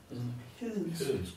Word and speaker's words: hedensk: Hedensk.